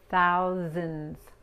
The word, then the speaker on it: thousands: Okay, es importante pronunciar la TH, thou, thou, y la S aquí, y la S aquí se pronuncia como la Z en español, digo en inglés, z, thousands, thousands.